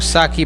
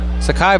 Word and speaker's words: Sakai: where got that wrong saki Barnes Sakai Barnes excuse me that's how it's it's pronounced and a whistle